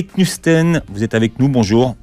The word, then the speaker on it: Knudsen: Knusten, vous êtes avec nous, bonjour. Bonjour. Alors, je ne sais pas si je prononce bien votre nom, c'est parfait. Et après Knudsen. Knudsen. C'est danois.